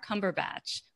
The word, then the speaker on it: Cumberbatch: health and wellness Cumberbatch rhymes with Cabbage Patch practice in terms of